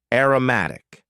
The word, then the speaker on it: aromatic: Next, we had an adjective, aromatic. Aromatic. And please focus on the pronunciation here. Aroma, as a noun, aromatic.